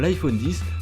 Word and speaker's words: iPhone X: il faut savoir que le x bien que présents sur les publicités et sur le site internet d'apple ne se prononcent pas il faudra donc pas de ce nouveau smartphone comme l'iphone 10 en tout cas c'est